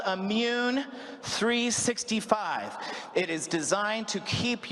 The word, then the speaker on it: M-Mun365: So it's pronounced M-Mun365.